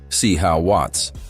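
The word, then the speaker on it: C Wvts: His close homie, C. WVTS, pronounced C. How Watts, was shot and killed in Brooklyn.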